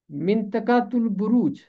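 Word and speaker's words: منطقۃ البروج: इसका तलफ़ुज़ है मिंतकातुल बुरूज। मिंतकातुल बुरूज, पहला लफ्ज़ है मिंतका, और बुरूज जब है बुर्ज की।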